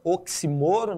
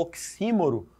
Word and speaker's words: oxímoro: também chamado de eh oximoro né ou oxímoro com acento aí na antepenúltima sílaba por ser uma proparoxítona nesse caso proparoxítona quando a an última sílaba é a mais forte Então eu tenho aí